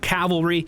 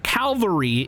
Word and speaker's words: cavalry: have a bunch of Cavalry that are get I'm saying that right by the way Calvary is a place where Jesus was born Cavalry it's just my accent okay it's just my